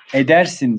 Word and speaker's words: edersin: Hırsız edersin diye okunur ama idersin diye yazılır.